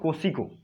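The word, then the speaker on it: Kosciuszko: सकते हैं आप, KOSCUISKO, माउंट कोसिको, लेकिन इसका स्पेलिंग ऐसे है KUSCUISKO।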